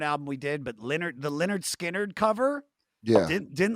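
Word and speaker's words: Lynyrd Skynyrd: They took the picture, the cover of the back cover of pronounced Leonard Skinnard.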